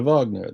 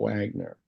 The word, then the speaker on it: Wagner: name of the composer Vagner you say Vagner not Wagner and so he's ceski